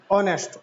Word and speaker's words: honest: pronoun we pronounce what not honest but we pronounce it as honest or next so i have written n then